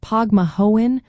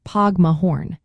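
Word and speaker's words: Póg mo thóin: Pronunciation can vary slightly depending on the region. Common pronunciations include Pogma Hoen or Pogma Horn.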